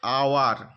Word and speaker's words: hour: অ্যান আওয়ার, দেখো এইচ একটি consonant কিন্তু এর উচ্চারণটি ভাওয়েল সাউন্ডের মতো, আওয়ার, আওয়ার, একটি ভয়েল sound, A ই আই ও ইউর গুলো এই ভয়েলগুলির মধ্যে রয়েছে।